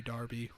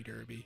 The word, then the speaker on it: Derby: know you guys say Darby we say Derby you guys say tomahto we say tomato you know it's different it's almost the same language but different pronunciation also the Kentucky Derby's